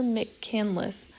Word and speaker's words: McCandless: I think that's how you say it. When I was reading it, I always read it as McCandles, but then I rewrote the spelling a few times. I was like, I'm very sure it's not candles.